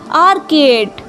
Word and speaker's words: orchid: तो देखिए फिर इनकी स्पेलिंग ORCHID, आर्किड।